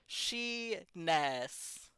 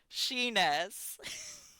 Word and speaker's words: Shenis: And sometimes in Japanese, instead of pronouncing this as the full letter su, we just pronounce the first part, so it becomes Shenis. Shenis.